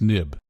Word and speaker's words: xib: and created OS X they changed the end to an X but they still pronounce it nib and finally you use